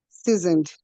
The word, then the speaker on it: seasoned: Then someone said seasoned instead of seasoned. So it's C, not Z, seasoned.